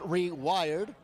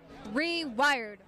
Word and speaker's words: Reyrd: is called rewired and it's spelled r e y r d but it's but it's pronounced rewired rewired correct and we are